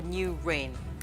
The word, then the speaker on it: NUWHRAIN: and Allied Industries or new rain good evening sir new Rain by pronunciation new n u w h r a i n good evening good evening